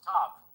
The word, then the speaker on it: tav: Letter of the Hebrew alphabet, the letter tau is pronounced tav.